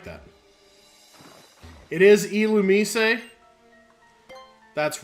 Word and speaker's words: Illumise: to be pronounced like Illumise. I always thought it was just like Illumis or something, or Illumise. But it's like Illumise, I think.